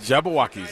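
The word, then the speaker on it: Jabbawockeez: there's that um the Jabba walkies are is did I pronounce that right yes Jabba walkis that's right from back in the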